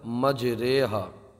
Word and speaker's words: مجریہا: ہم ہجے کریں گے۔ اس کو ایسا نہیں پڑھیں گے را کھڑا زیر ری، بلکہ کس طرح پڑھیں گے؟ را امالہ والی رے مج رے، ہا الف زبر ہا مج رے ہا، اس طرح سے